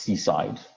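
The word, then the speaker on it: CSIDH: so this uh this one is pronounced seaside um or at least it is so pronounced by the authors of this game and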